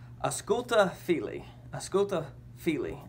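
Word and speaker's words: Ausculta fili: it's a sculpta fili a sculpto phili is how it's pronounced and what that said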